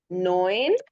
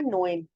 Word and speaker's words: neun: इसके स्पेलिंग तो नॉन NAUN है, लेकिन इसको बोला और लिखा, लिखा ऐसे जाता है NAUN, और इसको बोला ऐसे जाता है जैसे मैंने ये साइड पे लिखा है, नोएन, नोएन, नॉन नोएन।